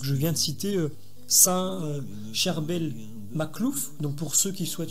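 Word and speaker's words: Charbel Makhlouf: Certains corps de saints qui sont restés parfaitement intacts, donc je viens de citer Saint Cherbel Maklouf, donc pour ceux qui souhaitent chercher sur Internet, c'est donc Saint Cherbel, comme ça s'écrit, C-H-A-R-B-E-L, plus loin, M-A-K-H-L-O-U-F.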